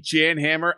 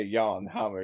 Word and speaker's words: Jan Hammer: also some like wannabe jan hammer i mean sorry someone on facebook told us that we're pronouncing his name on his name's like jean hamur or some somewhere yawn hummer is very sad little